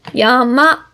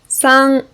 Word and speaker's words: 山: the first one here yama which is red yama as you might remember this word means mountain